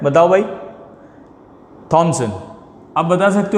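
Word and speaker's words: Thomson: H silent मान लो 2 minute के लिए। टॉमसन, वैसे हिंदी में टॉमसन ही बोलते हैं, थॉमसन नहीं बोलते, इंग्लिश में थॉमसन।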